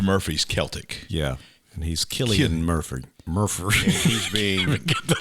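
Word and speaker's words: Cillian: out that yet another person whose name we mispronounce is also being considered Killian Murphy which we've always called San yeah but it's Killian it's like Celtic yeah not Celtic okay the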